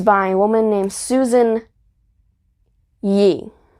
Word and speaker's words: Ee: And my mom looked it up, the pronunciation, and it said Yee, which is really weird.